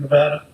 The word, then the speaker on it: Nevada: new world here in Nevada. And there's no H in Nevada, sir, just so you know. We always tell everybody that. We told him we wouldn't hire him if he said it wrong.